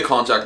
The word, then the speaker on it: konjac: I'm nearly sure that it's pronounced Konjac noodles, that's the way it's spelled anyway, so I'm going to roll with it.